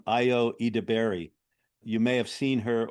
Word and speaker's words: Ayo Edebiri: I just saw a show on Broadway called Proof that stars, I believe he she pronounces her name Ayo Edebiri.